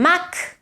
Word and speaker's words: mag: If you say ell és un mag, it finishes with a k, whereas és un mag àgil, then it becomes a g, voiced.